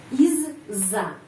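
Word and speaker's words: из-за: terdiri dari dua bagian Iz Za Izza bacanya Izza huruf Za panjang Izza Izza Izza artinya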